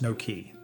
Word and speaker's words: noki: This is the work of the deep eave called noki, pronounced no-key.